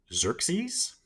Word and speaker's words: Xerxes: So the Persian king, I have the pronunciation here. It's Xerxes, the Persian king Xerxes, had sent an envoy to Sparta asking for earth and water.